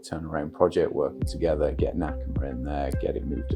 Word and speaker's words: Nakama: That was a really quick turnaround project, working together, get Nakama in there, get it moved across and get the game back out into players' hands after it being shuttered for a while.